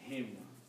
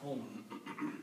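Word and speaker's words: هِمْ: And for the easy tajweed, we will pronounce this as him, not hum.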